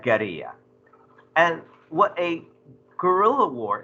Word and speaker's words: guerrilla: as a spanish word the word we mispronounce this as guerrilla but how would you pronounce that if that was a spanish word yeah you this comes from a root word gada which is like a war in spanish so this is like a geria and what a guerrilla